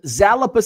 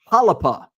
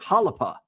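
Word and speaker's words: Xalapa: Uh, Unicorn Cupcake says, "FYI, on eBay, I'm Zalapa 6." Oh, it's pronounced Halapa. It is a city in Mexico, home of the Jalapeno. Interesting. Okay. Halapa.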